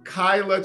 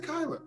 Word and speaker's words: Kaila: she's from prince george's county maryland that is kyla charles wnba player now playing in israel right